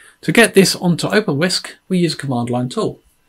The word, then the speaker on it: wsk: in your sleep to get this onto open whisk we use command line tool wsk which is pronounced whisk i know you're thinking it's pronounced